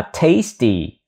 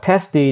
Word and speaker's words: tasty: bữa ăn ngon miệng chữ này đọc là tasty a âm a giữa a tasty tasty tasty đừng đọc là tasty hay là t đừng đọc testy nó nghiêng và e không được mà là tasty tasty tasty tasty meal